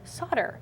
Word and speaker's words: solder: I'm in Australia and have always pronounced solder as in sold, and with an on the end.